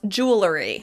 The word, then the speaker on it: jewelry: The reason that I thought I was pronouncing it correctly is that I thought there was a difference between the British pronunciation and the American pronunciation, but it turns out I'm just using a non-standard pronunciation.